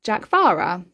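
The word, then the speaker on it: Dearcmhara: It is a Gaelic name pronounced Jackvara, which means marine lizard.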